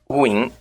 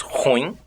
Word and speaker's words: ruim: que muitos leem avaro, ruim, que volta e meia se diz ruim.